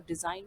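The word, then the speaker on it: design: किया जाता है, तो डिज़ाइन और रिज़ाइन दोनों ही में एस का जो साउंड है वो जेड के जैसा आता है।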